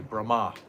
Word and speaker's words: Brahma: And if it's got a line over an A, it means it's a long A, like we say Brahma.